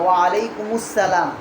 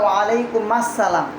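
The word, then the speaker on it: وعليكم السلام: কেউ যদি সালাম তোমাকে দেয় তখন তুমি সালামের উত্তর নিবা ওয়া আলাইকুমুসসালাম। অনেকে বলে ওয়া আলাইকুম মাসসালাম, মাসসালাম শব্দ ভুল, ঠিক আছে? ওয়া আলাইকুমুসসালাম বলবা।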